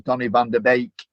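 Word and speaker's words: Donny van de Beek: and said to me, this is how you say it. But obviously, fortunately, the communications director at Old Trafford lived in Holland, Charlie. So he'd also told me that it was Donny van der Beek, as in Baker, you know.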